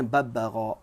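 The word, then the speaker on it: الببغاء: Al-babbagha, cara bacanya babbagha.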